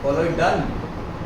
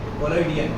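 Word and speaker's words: कोलोडियन: इसलिए उसको क्या बोला, कोलोइडल, कोलोइडल नहीं डन, कोलोइडियन, हाँ लास्ट में न है प्रोनाउंसिएशन।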